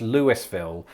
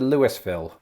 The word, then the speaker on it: Louisville: happening here i think famously the one in kentucky isn't pronounced lewisville and a lot of outsiders incorrectly pronounce it that way but i wonder if